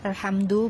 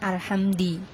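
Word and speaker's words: الحمد: Nah, kan salah ya, harusnya alhamdu bukan alhamdi.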